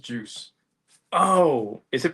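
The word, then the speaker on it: Guice: People sometimes call him Geis, Oh, okay. Yeah. but it's pronounced Juice.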